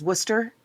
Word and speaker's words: Worcester: Is that how you pronounce it? Massachusetts? I believe it is Worcester.